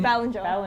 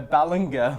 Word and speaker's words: Ballinger: know the last name Ballinger Ballinger yeah worse than a gia cards down because I've been pronouncing a balangay English is weird language